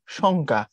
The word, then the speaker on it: সংখ্যা: ধ্বনি ক আছে এখন উচ্চারণ করার সময় পড়তে হবে কি সংখ্যা এখন সংখ্যা বললে এখানে কিছুটা চন্দ্রবিন্দুর প্রভাব থাকে এটাই বলছে তারপরে বলছে সমযোগ